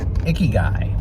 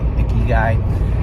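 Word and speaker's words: ikigai: way there and it ended up being about icky guy i don't know if i have the pronunciation right and since i shot the video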